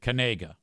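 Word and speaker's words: Knigga: A and he's a white dude and he pronounces it Kanega.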